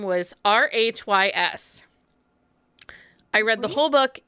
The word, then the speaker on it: Rhys: can't pronounce them i'm not very good at pronouncing names especially anyway i read a whole book and the guy's name was r-h-y-s i read the whole book in my head